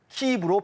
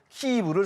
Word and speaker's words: 키이브: 정부는 우크라이나어를 공용어로 정하면서 지역명의 영어식 표기를 우크라이나어 발음에 따르도록 의무화했습니다. 이에 따라 1995년부터 우크라이나는 모든 공문서와 외교문서에서 자국의 수도를 영어로 키이브로 표기하고 있으며 최근에는 유엔과 유럽연합, 주요 국제기구에서도 키이브를 사용하고 있습니다.